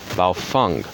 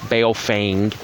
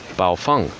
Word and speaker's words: Baofeng: that's the same pronunciation I mean it's valve Fung not bail feigned or bow Fang its bow Fung okay nothing particularly unusual